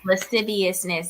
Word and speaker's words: lasciviousness: like I can't ever say it but Les lasciviousness lasciviousness yes I said it right you said it